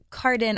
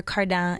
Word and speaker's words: Cardin: at home in French so I say k but cardan or cardan is more than fine okay C day if